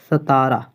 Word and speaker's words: सतारा: उच्चारण में गलती नहीं होनी चाहिए, सतारा।